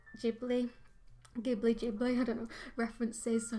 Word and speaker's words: Ghibli: It's pronounced Ghibli, not Ghibli. Ghibli with a J.